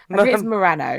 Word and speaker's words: Murano: Yeah, Milano. Hers is harder to pronounce because I think it's Murano. Murano. Yeah, Murano.